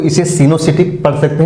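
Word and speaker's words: coenocytic: से अधिक हो दो से अधिक हो उसे सीनो सिटिक या साइट सीनो सिटिक स्पेलिंग हो जाएगा सीनो सिटिक का सी ओ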